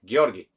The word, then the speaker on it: Georgi: or steer cocktail channel yes georgie that's how you pronounce my name correctly because i'm coming from bulgaria and that's how we say it there giorgi not georgie anymore okay just a note